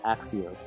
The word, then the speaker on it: Axios: head of the pumpkins I actually do know how to say it now it's Axios I didn't really know